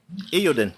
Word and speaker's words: Eiyuden: Eiyuden, yeah, okay.